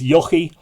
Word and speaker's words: Echu: And, well, it's spelt Echu, E-C-H-U, but I think the proper pronunciation is Yochi Olahar was his name.